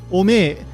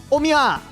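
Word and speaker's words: お前: Early on in Dragon Ball, Yajirobe pronounces omae as ome. This could be considered a very informal pronunciation, or it could also be taking influence from the Tohoku dialect. However, once Yajirobe goes into full-on Nagoya dialect mode, he pronounces omae as omiya.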